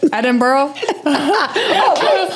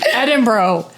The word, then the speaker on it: Edinburgh: Did I say it? Edinburgh? You're failing already. Edinburgh. I can't not say borough. Yes. So how do you say it? Because now I forgot. Edinburgh. Remember, we were like, bruh. What's up, bruh?